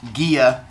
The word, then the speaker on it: Gaia: Gods to be born I am going to pronounce them the Greek way which is Gia and Uranus but I've been teaching Junior High